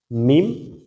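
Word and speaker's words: ميم: দুই ঠোট শুকনা জায়গা দুই ঠোটের শুকনা অংশ দুটো যদি একত্রিত করে বলেন মিম তাহলেই কিন্তু উচ্চারণটা সঠিক হয়ে যাইতেছে মিমের আপনাদেরকে আরো সহজে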